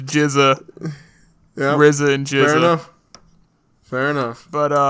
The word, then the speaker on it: GZA: of that beat i'm Frisia oh so it's pronounced jizz I've been listening to a lot of wu-tang clan that but on Pandora I see and I see the GZA I don't like Giza no no it's GZA risen jeredy fair enough but it's awesome music